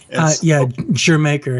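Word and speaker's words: D'yer Mak'er: You've got little dalliance with reggae on Digi Maker, or however you say that. I'm not British, but I understand this. Is that how you say it, Jamaica? Jamaica, yeah.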